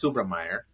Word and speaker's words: Subrameyer: subam and and now it's subra Meer okay and that's why my company name is